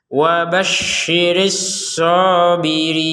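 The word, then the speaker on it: وبشر الصابرين: Nah, ini perhatikan ada shin, ada short. Ini harus beda ya, jangan sampai dua-duanya shin atau dua-duanya short. Jadi harus beda ya. Wa basyi itu shin, as-sabirin itu short. Wa basyiris sabirin.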